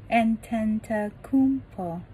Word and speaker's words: Antetokounmpo: Greek way, you say with an NT, like antetokounmpo. You gotta just say, you know, it's Yannis antetokounmpo. 前面的 G 是不发音的，要念 Yannis, Yannis, antetokounmpo, Yannis, antetokounmpo.Yannis Antetokounmpo，还记得前一